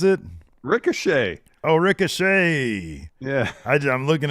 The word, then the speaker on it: Ricochet: Ricochet. Oh, Ricochet. Yeah. I'm looking at it phonetically. That's how I read. It's confront Ricochet. Thought it was like a dude named Chet.